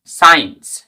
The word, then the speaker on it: science: যখন সি এর আগে এস থাকে এবং পরে ই আই ওয়াই এই 3টি ভয়েস লেটার থাকে তখন সি এর উচ্চারণ হয় না। For example SCIENCE সায়েন্স। এরকম ভাবে SCENE সিন, এখানে